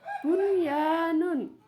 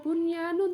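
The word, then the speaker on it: بنيان: Nomor 3 bunyanun. Ya, dibaca bunyanun, tetap nun sukunnya dibaca izhar atau jelas karena nun sukun bertemu dengan ya dalam satu kata.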